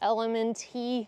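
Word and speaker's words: LMNT: use right now is elemente I'm sure it's pronounced element but if you go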